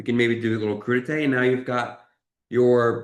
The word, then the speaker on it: crudité: Crudité, yeah. Or I jokingly call it crudites because it's spelled like that.